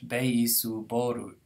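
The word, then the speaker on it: ベースボール: Baseball is two syllables in English. Beisuboru. It's five syllables in Japanese.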